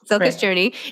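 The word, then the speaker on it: Cilka's Journey: Then Silka's Journey. Did I pronounce that right? Silka's Journey? Yes. Silka's Journey.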